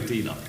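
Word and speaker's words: DLUHC: I say DLUC.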